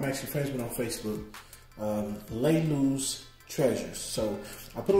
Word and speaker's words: Lalu's: have here you see right here laylee's treasures this is how you pronounce it we got francine frankincense